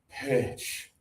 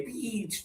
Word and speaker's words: pitch: This one is pitch. pitch Really good job. Usually there are some students who say peach. No, that's the fruit.